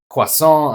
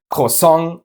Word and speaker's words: croissant: for today stems from the French pronunciation of OI, which is wa. Fun fact, in Germany a person is considered to be very educated if they are able to pronounce this sound. So, stuff like croissant, accessoire, reservoir. But, if you have lived in Germany for more than 5 minutes, you know that my people say croissant, accessoire, and reservoir, much to the